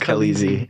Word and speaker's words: Kaleezy: Kyle on the Twitter, Kaleezy, Kale, like Cal, AZY. How do I pronounce that? Kaleazy, Kaleezy. It was my design firm that I had a long time ago. It's Kaleezy. Like Khaleesi.